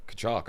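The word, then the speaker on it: Tkachuk: And it sounds like the last name sounds like the sound you make when you throw a big rock in the water.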